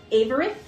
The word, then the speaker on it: Averith: The king is known by Vreen von Averith. Can you spell that?